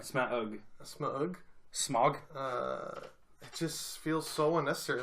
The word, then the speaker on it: Smaug: Sorry, how do you pronounce that again? Smaug. Smaug? Smaug. Yeah. Right. Smaug. Smaug. Smog.